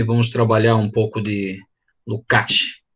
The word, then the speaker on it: Lukács: trabalhar um pouco de Luc né Se fosse pronunciar na no alemão e no Húngaro Mas a gente pode falar Luc Lucas sem problema vamos aqui uma guia